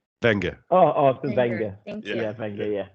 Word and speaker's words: Wenger: So am I pronouncing it right? Wenger? Wenger.